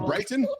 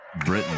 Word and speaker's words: Britton: Or Brighton? Is it Rich? Is it Britton or Brighton? Britain, like the country.